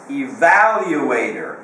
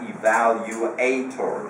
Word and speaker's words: evaluator: not pests that's different evaluator Accent on the second syllable not evaluator that is incorrect we had a lot